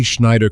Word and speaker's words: Schneider: The German shish is a soft shish. The EI is a long E. Say Schneider correctly and an English-speaking